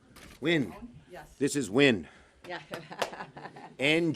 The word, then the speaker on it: Nguyen: N which is a very common name is pronounced win and thank you for listening ok thank you